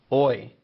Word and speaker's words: hoy: Now, another useful word for talking about the date is hoy. Remember, the H is silent, so that's hoy.